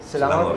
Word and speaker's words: Selangor: Selangor, yes.